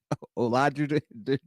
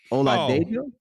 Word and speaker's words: Oladejo: Olawafemi Olaju. How you pronounce this dude's name? Who you? Olawafemi Oladejo.